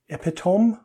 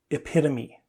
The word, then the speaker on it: epitome: It's just we have a problem when we pronounce it. Epitome? Nope. Epitome.